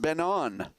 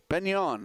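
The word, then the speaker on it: Ben Eoin: he tells me that that place is actually called Benon. Benon, I guess it's called. He's from Cape Breton. He says them Cape Bretoners, they like to have things pronounced right.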